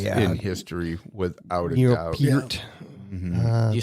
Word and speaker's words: Peart: Peart.